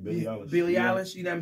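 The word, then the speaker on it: Billie Eilish: say her name you said it right Billy Billy Alish you know what I'm saying so I guess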